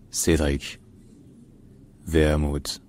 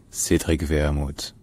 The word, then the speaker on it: Cédric Wermuth: National Council so in German his name is pronounced Cedric vermut Cedric vermut Cedric vermut Cedric ver all right if you enjoy learning